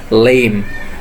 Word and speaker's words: limb: And the final one is LIMB. B is silent again and the pronunciation is lame.